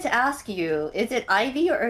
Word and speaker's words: Eevee: well I wanted to ask you is it Ivy or Eve? Been saying it wrong the whole time. It depends. It depends on the place you know. Here we we Okay. Here in Brazil we say Eevee.